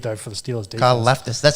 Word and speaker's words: Karlaftis: I do like George Karlaftis, I think is how you say his name. I did have a look at this guy's name before. I thought both of us might struggle with it. I couldn't find a pronunciation. Karlaftis out of Purdue. That's what I'm going to go with.